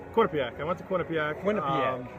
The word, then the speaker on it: Quinnipiac: Now you went to, it's a school that I can never pronounce. Quinnipiac.